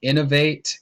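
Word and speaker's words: Inov-8: this next brand you may not know it's pronounced innovate it's like a trail like trail running /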